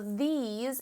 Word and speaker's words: these: Hopefully you said yeah or S, because S between 2 vowels like E and E, it usually says Z. So these is spelled T-H-E-S-E.